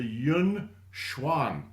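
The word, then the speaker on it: Yongquan: There is an acupuncture point called the yunwan. All right? And just sound it out for English spelling.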